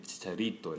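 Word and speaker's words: Chicharito: 보통 여기 붙으면 이제 발음이 치차리또 이렇게 됩니다.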